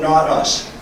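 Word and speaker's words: Nautus: While standing on the bridge of the tugboat, not us. Now, not us is spelled N A U T U S.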